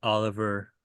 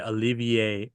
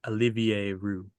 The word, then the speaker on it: Olivier: Uh the 6'9 guy is Oliver Rue from from Canada. Oh, sorry. Olivier Olivier, I think I pronounced that right.